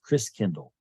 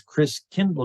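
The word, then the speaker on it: Christkindl: come from the Christ child and the German pronunciation of Christ child is Chris Kendall like uh kindergarten KinderCare kind nice child Chris means Christ and so over the centuries Chris Kindle got pronounced Kris Kringle interesting so Chris Kringle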